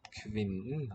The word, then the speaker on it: kvinnen: Barna løper toward, løper mot it's spelled kvinden, but kvinnen will be the sound.